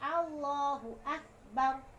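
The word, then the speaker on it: الله أكبر: Kemudian yang nomor ke-8, wa alla yusaddi dal ba'a. Nah, dan jangan jangan ditasdid dan baknya Allahu akbar. Repot juga bacanya Allahu akbar. Kerepotan. Tidak boleh ditasdidan.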